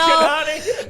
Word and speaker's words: Kanani: Kanani. I told you rhymes with Punani and then it's over.